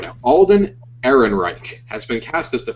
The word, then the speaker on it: Alden Ehrenreich: Alden Ehrenreich has been cast as the famed smuggler, and we can now confirm it's true.